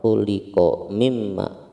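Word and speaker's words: خُلِقَ مِنْ مَاءٍ: Yang pertama adalah di sini ada kata khuliqa mimma. Di sini min nun sukun bertemu dengan mim. Hukumnya adalah idgham bi gunnah. Jadi bacanya khuliqa mimma, khuliqa mimma, dimasukkan lalu digunnahkan. Khuliqa mimma, khuliqa mimma.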